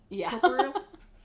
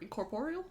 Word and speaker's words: incorporeal: Incorporal. How's How do you say that word? Incorporeal.